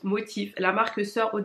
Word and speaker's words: MOTF: en deux trois mots c'est quoi la marque motive donc mtm ça se prononce motif la marque soeur haut